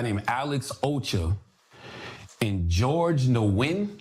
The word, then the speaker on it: Nguyen: Alex Ocha, and George Nguyen. How you pronounce it, Chris? It's a Vietnamese name. Nguyen. Win is the closest, yeah.